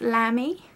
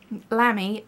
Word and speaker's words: Lamy: two of the uh i think it's pronounced lamy which just makes me hear like a little lamb bleating lamy uh these are the